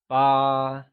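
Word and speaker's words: 八: 8 is ba, pronounced with a high level tone, like ba.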